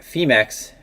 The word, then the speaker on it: Phemex: let it pass that i consistently pronounce the name of the exchange incorrectly so it should be femex and i'm always saying femex so excuse me for pronouncing with the hard f if that is a hard f not really entirely sure so we have the